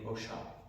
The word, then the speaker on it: Osha: elevation called Osha, or if you want to pronounce it properly, in the native Osha, because it has the accent on the A.